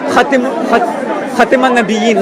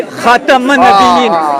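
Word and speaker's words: خاتم النبيين: Hazrat Ali said, do not pronounce the kasra. Do not pronounce the kasra, but say Khatam al-Nabiyyin with the fatha So on the now, K.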